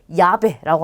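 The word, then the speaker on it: llave: 원래는 아인데 엘레가 두 번 왔기 때문에 아를 이중 모음으로 바꿔서 야베라고 하는 거예요.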